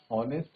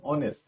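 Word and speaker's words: honest: क्या मैं हॉनेस्ट बोल रहा हूं? ऑनेस्ट तो नहीं बोल रहा ना? एच यहां पे साइलेंट होता है। और हम बोलते हैं ऑनेस्ट।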